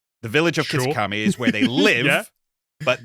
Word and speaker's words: Kitakami: Kitakami. The village of Kitakami is where they live, but they go to